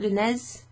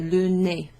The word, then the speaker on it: le nez: So the EZ is pronounced E, okay?